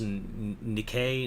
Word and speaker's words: Nikkei: I think it's pronounced Nikkei newspapers. Oh yeah, it looks like Nike, but it's not.